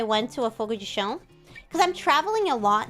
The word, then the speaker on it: chão: Fogo de chão is the, how do you say it? You say, not chão, it's chão.